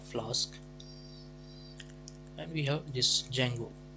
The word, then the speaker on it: Django: For example, we have Flask and we have this Django. D is silent here.